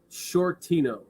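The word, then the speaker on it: Sciortino: my name is short Tino so Mr Shorty is spelled half of my last name which is s-c-i-o-r-t-i-n-o get that do that say that two times s-c-i-o-r-t-i-n-o s-c-i-o-r-t-i-a yeah exactly plus these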